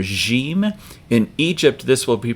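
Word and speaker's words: جيم: a connecting letter that makes the J sound like pleasure or measure not usually a sound We Begin words with in English but this is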